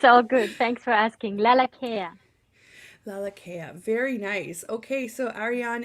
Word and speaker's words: Lalakea: live radio it's all good thanks for asking laa care laa very nice okay so Aran is here with